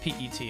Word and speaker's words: PET: I don't mean to be that guy, but it's pronounced PET.